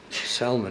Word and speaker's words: Salman: popular name in America and the L is sounded although it's spelt the same as salmon so it's a fishy